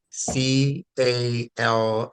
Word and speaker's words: calf: you said f because you don't pronounce the L you just say calf you don't say calf